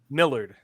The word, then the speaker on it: Millard: with us today hey that is how you say it right Mard right I'm not going to mess your name up right Millard Millard how do you get